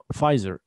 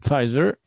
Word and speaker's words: Pfizer: Okay, the P is silent. You don't pronounce the P here. Don't pronounce the P. Right, Pfizer. In 2005, the Czech branch of the pharmaceutical company, Pfizer, so pharmaceutical means Sharkat